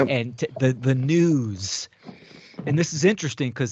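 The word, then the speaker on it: nous: u s but it's it's pronunciate as news almost sounds like news right y or what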